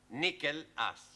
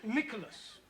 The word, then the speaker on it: Nicholas: upon a times there was a man called nickel ass it's not quite right no no once upon a time there was a woman called Nicholas it's pronounced Nicholas so right once upon a time there was